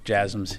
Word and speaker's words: JASSM: The last question, yes, JASSMs. Yeah, you're pronouncing it correctly.